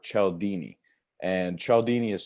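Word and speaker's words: Cialdini: the word influence and that's by Robert Chell Dini and she'll Dini is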